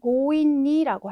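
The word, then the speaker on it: 強引: 인자를 썼으니까 강하게 끌다, 무리하게 억지로라고 하는 단어에 고인니라고 하는 형태로 많이 쓰이는 단어입니다. 그래서 이 강자가 뭐 강도라던가 강탈 이렇게 할 때도 고우라고 읽히기는 하는데요. 아무래도 이 고우라고 읽히는 가장 대표적인 단어가 이 고인니다 보니까 요거 하나라도 꼭 기억을 해주시고 넘어가셔야 되겠습니다.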